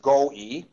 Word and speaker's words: Goewey: by Don Joseph go e w y it's pronounced go e he has spent more than 30 years helping